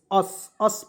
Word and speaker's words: us: तो इसे क्या पढ़ते हैं, US, अस पढ़ते हैं। देखिए यू का उच्चारण अ के रूप में होता है और एस का उच्चारण स के रूप में होता है, तो क्या पढ़ेंगे, अस।